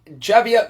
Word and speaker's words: Javier: on the date when javia M or can be pronounced everywhere habier M he actually visited